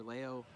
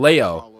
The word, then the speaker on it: MkLeo: I'm Leo. That's how you pronounce his name. Leo. I kept saying Leo. It's Leo. MkLeo.